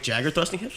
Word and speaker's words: Jaeger: fighter I believe so it's actually pronounced jagger idea a Mick Jagger he throws his hips